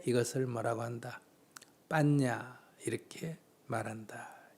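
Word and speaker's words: paññā: 빨려로는 빤야. 이게 우리식으로 발음해가 반야가 된 거예요. 원래는 빤야라는 거고요. 버머, 산스크리트어로는 프라즈나, 빨려로는 빤야 이렇게 부릅니다.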